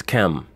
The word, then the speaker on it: Ham: The Canaanites are the offspring of Ham, or as he's known, or as that word is pronounced in the English, Ham, but as it's really pronounced, is Chem.